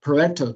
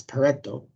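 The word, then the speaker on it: Pareto: about quality PTO petto charts everybody pronounced this wrong it's peretto Italian guy and it's a histogram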